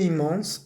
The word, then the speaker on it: immense: Louise a ressenti une immense fierté. Como que Louise sintió un inmenso orgullo. Orgullo en español es masculino, en francés es femenino. La fierté. ¿Listo? Une immense, ese IMM lo vamos a pronunciar. Immense fierté en voyant.